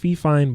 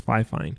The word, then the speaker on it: Fifine: I know a lot of people think it's pronounced Fifine, but apparently it's Fifine.